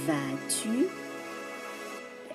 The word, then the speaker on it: vas-tu: Comment vas-tu? S is silent.